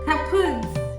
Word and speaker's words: kaputt: We spell it with two Ts in Germany, but we pronounce it the same way, kaputt.